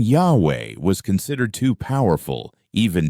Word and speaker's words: Jehovah: the King James Bible the only problem this is not the correct pronunciation of the Divine name and in fact it has no basis in the original Hebrew language Yahweh was lost and Jehovah